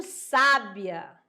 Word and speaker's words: sábia: A sílaba com maior intensidade tá aqui, ó, sa. E tá marcada pelo acento agudo, né? Então, já sabe que essa daí vai puxar mais, beleza?